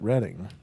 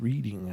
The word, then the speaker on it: Reading: In England, they pronounce it Reading. Reading. Yeah, but this is Reading, I think, because it's in Ohio.